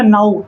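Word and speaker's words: know: Next इसमें के जो है साइलेंट है। अगर हम सिर्फ इतना पढ़ेंगे तो ये होगा नाउ। नाउ मीन्स होता है अब। लेकिन हमें याद रखना है यह जो पूरा वर्ड होता है यह पढ़ा जाता है नो। इसमें के साइलेंट होता है।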